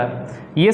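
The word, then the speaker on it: chi: symbol कुछ ऐसा दिखता है ये सिंपल एक्स है इसे बोलते हैं हाय इसका इंग्लिश स्पेलिंग तो क आई लिखने हैं लेकिन प्रनंसीएशन करते समय इसे हम हाय पढ़ने हैं दो कॉम्पोनेंट्स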